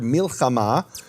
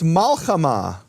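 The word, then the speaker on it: מלחמה: Another example they bring is the word milchama, which is war. And in Babylonian Hebrew, it's malchama. Also means war, no difference in meaning, but it's pronounced differently and given a different vowel.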